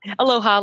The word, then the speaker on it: Aloha: sounds lovely is it a lower am I saying it right yeah yeah Aloha like you know Hawaii yeah so the Aloha